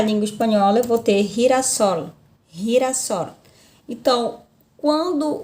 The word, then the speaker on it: girasol: Então, quando o G vier diante de E e de I, eu vou ter esse som, re, ri, como se fosse o nosso R arrastado para cá, para a língua portuguesa, a pronúncia, tá? Girasol, girasol.